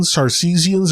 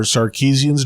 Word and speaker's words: Sarcesians: The book also might contain Sarcesians or Sarkeesians, depending on how you pronounce it.